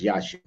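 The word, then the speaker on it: Yeshua: it wrong yashu sorry I said Yahoo but it's yashu yashu I had to think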